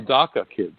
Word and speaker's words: DACA: Everyone knows what DACA means, maybe because it rhymes with caca.